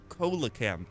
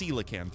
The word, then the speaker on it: coelacanth: coelacanth okay oh man I really want to pronounce it Cola camp but okay you did say it's pronounced coelacanth right am I saying it right coelacan that feels right